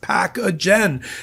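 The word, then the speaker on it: Pacagen: That's P A C A G- N pronounced packagen.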